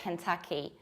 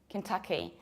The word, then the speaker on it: Kentucky: It's a little bit tricky because people usually pronounce it like Kentucky. And this is not Ken like Ken from Barbie, but it's Ken, Kentucky. Imagine that you drop this A and you say Ken, Kentucky. Kentucky.